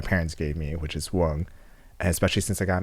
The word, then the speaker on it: Quan: Actually, can you guys help me pronounce it as Wang?